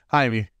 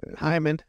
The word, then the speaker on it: Jaime: Jaime. Oh, yeah. Yeah. Jaime's fine. It's spelled Jaime. It's Jaime. It's like Jorge is George. It's Hyman. Hyman.